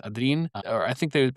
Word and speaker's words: Adrien: It looks like Adrian, but it's Adrien.